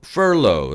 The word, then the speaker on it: furlough: 의미로 사용되는 단어는 영어로 풀러 라고 합니다 일시적인 해고 란 사전적인 뜻을 갖고 있는데요 발음을 따져보면 마치 모피를 나타내는 후 그리고 낮은 이란 뜻의 단어 노후를 합쳐놓은 것과 똑같습니다 프롬 더 프라우드 어